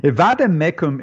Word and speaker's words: vade mecum: A vade mecum is a Latin. Did I pronounce it correctly?